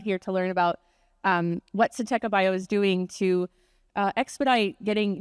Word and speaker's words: Syntekabio: I'll say it a bunch of times so everyone will learn the proper way to say Syntekabio.